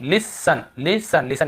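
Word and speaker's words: listen: देखिए लिसन, यहाँ पर भी टी नहीं पढ़ रहे हैं। ऑफन यहाँ पर भी टी, ऑफ्टन लिस्टन नहीं पढ़ रहे, ठीक है।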